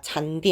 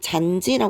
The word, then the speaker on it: 잔디: 연해서 올라온 경우가 아니라 원래부터 글자가 잔디 있잖아 그때는 잔지라 발음하지 않죠 잔디라고 발음을 하게 됩니다 그리고 이모음 시작하는 형식